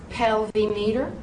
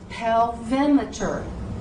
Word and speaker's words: pelvimeter: So, did you say pelvimeter? Did you say pelvimeter? If you did, wrong answer. It is pelvimeter. You would not say thermometer. You say thermometer. So do not say pelvimeter. Say pelvimeter. Pelvimeter.